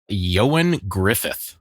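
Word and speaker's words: Ioan Gruffudd: Uh Eon. Uh, yeah. I have to always have to look up how to say this guy's name because it's uh Welsh, I think, but it's Yoan Griffith.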